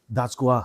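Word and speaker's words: DAJGUA: What do you pronounce it in a shorter term? Dajgwa. Dajgwa. Dajgwa.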